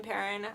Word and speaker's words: Perrin: If you're watching, Karen Perrin, I love you. Yes, her last name rhymes with her first. She claims it's Perrone, but I think that's a likely story.